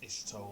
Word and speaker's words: Y'shtola: Pronounced Ishtola.